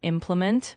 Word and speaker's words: implement: For example, in implement, make sure the emphasis is on the first syllable.